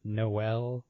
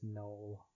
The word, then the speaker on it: Noel: The fact that it's pronounced Noel instead of Noel, the way it's spelled. I don't know if it's Noel or Noel. I don't care. It is Noel.